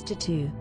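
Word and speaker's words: t.A.T.u.: this lady is a famous singer and a former member of the controversial music group de tu pronounced as tattoo the single all the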